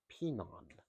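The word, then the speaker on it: Pinan: In Okinawan, the word is pinon, but in mainland Japanese, it's heian. And it's the same word, the same meaning, just pronounced differently.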